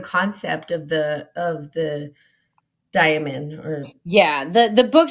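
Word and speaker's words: daimon: always say it wrong I always want to say like demon because it sounds like demon but it's not demon it's like diamond um Guardian Angel like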